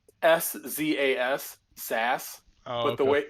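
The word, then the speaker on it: Szass: Yep, But it's SZAS, Sass.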